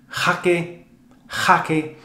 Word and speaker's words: jaque: I'm doing my best to pronounce that in standard Spanish. This is a very kind of harsh, throaty sound, jaque.